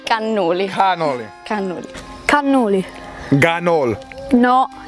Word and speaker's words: cannoli: Cannoli. Cannoli, not ganol. Cannoli. Cannoli. Cannoli. I've heard ganol. Ah. Cannoli. Ganoli? No, con la C. Cannoli.